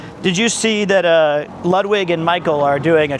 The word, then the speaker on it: Ludwig: It's Lwig. You always say Ludwig like he's doing porn or something.